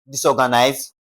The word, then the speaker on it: disorganized: Simply because to stress disorganized, you have to place the stress or the emphasis on the third syllable from the last.